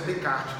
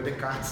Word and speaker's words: Descartes: Segunda prova que o Descartes coloca, a pronúncia é Descartes, não é Descartes não, e nem Descartes.